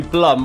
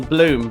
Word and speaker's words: Blum: A lot of people call you Blum rather than Bloom, but it is Bloom.